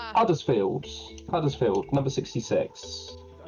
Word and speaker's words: Huddersfield: Huddersfield. Uttersfield number 66. I'm under the impression they don't pronounce the H up there. It's uddersfield I believe.